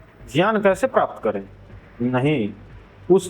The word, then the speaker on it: ज्ञान: Video में हम ज्ञान ज्ञान को ज्ञान बोलेंगे। ज्ञान को ज्ञान क्योंकि यही शुद्ध संस्कृत उच्चारण है।